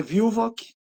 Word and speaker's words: Villwoock: Como é que é a pronúncia do seu sobrenome e qual é a descendência dele? Meu sobrenome é Vilvock, Viu?